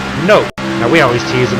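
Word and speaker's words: Knope: my brother-in-law actually his his pet name spelled KN ope and he pronounced it nope now we always tease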